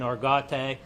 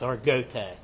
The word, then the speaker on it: Argote: It's some people's been saying Argote, but the family, it's Argote, is how they pronounce the last name.